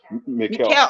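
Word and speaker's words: Míchel: Miguel of Girona, the manager of Girona. What if at the end of the season Barcelona goes for him? Yeah. Mikel.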